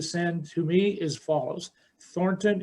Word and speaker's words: Thornton: to me is follows thornton is spelled t h o r n t o n like thorn and ton in one word dot spain like the